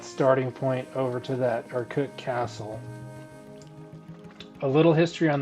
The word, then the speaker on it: Urquhart: It's spelled Urquhart. So Urquhart. QU spells cut, or Urquhart.